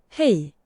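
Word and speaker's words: hej: H-E-J Swedish pronunciation. Oh. Hey. Hey.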